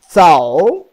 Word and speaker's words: 走: The third character, pronounced as zao. Zao. Like you listen to me. Everybody has the experience, heard that noise. Like electricity, zzz. Zzz. You can close your teeth. Zzz. Zzz. Zzz. Zao. Zao.